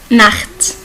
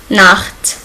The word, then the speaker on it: Nacht: Globalement, il y a deux manières de prononcer CH en allemand. La première, CH, qu'on l'appelle guttural parce qu'il se prononce dans la gorge. Ça sonne comme R en français. C'est auch, Nacht et noch.